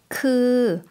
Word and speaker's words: คือ: คือ 좀 길게 발음해 주시면 되겠죠? 그라고 해주시면 되고요.